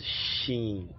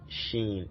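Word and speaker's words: شين: is this is called sheen sheen as in shack so the sh sound shack sh shack the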